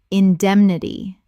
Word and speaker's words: indemnity: annuity annuity Word 164 indemnity common mispronunciation indemnity correct pronunciation indemnity Four syllables with the stress on the second.